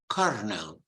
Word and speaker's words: colonel: Colonel no no it's it's written with an L but unbelievably you pronounce it with an R kernel Colonel and you also